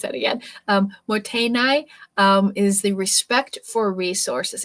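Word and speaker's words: mottainai: How do I pronounce that again? Motainai is the respect for resources.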